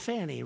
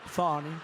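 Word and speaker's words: Fani: f F it's F ni I but they pronounce it fonny how do you could would if you had the name if you had the name f a n i it's called Fanny right how do you get fonny I think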